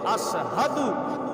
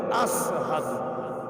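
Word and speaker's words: أشهد: উচ্চারণ করতে পারেন নাই সিনের জায়গায় তিনি সিন উচ্চারণ করতেন শব্দটা হচ্ছে আশহাদু আর বেলাল রাদিয়াল্লাহু তা'আলা আনহু উচ্চারণ করতেন আসহাদ সিন দিয়ে আশহাদু লেখা আর হযরত বেলাল রাদিয়াল্লাহু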